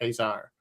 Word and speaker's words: Caesar: We look at the word Caesar and pronounce it in the English as CE, as a C, that sound. But in actual Latin Roman speaking, it was probably Caesar. Interesting.